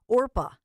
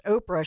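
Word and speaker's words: Orpah: name her birth name is a Bible name orpa did you know this so many people mispronounced her name as Oprah she just went with it at one point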